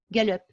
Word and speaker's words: Gallup: Alors, ça s'écrit G-A-L, 2L, plutôt U-P, Gallup.